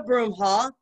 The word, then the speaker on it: Broomhall: i want to see broom okay miss broomhall today our topic is on uh shadow work